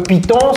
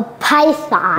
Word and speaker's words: python: Can you pronounce it again? Hair. All right, very good. Donc, le python, c'est quoi? Le python en anglais, Cody, can you help us pronounce this? A python.